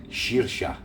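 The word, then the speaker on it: saorsa: spelled s a o r s a but pronounced sha so they called it that but I definitely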